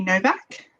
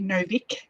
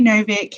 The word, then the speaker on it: Novik: a deadly education by naomi novak or sorry novick i always mispronounce her name um naomi novik who is the author